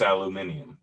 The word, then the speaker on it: aluminium: i got right there you ever hear a brick like a something in europe say aluminum it's totally different aluminium something like that yeah i believe it's aluminium yeah um that's how